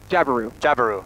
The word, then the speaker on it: Jabiru: Jabiru.